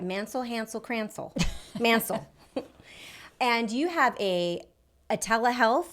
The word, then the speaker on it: Mancil: Today I have the beautiful Melanie Mancil. I said it right. Mancil, Hansel, Cransel. Mancil.